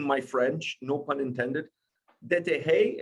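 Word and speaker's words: Déterre: Dete is how you pronounce it? Very well.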